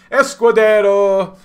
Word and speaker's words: Escudero: he's been brought down by a squared arrow Escudero yeah that's how you say it and Vaugh